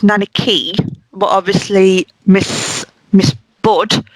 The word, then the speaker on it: Nanaki: my favorite car a so I know it's pronounced nanaki but obviously Miss Miss bud could not pronounce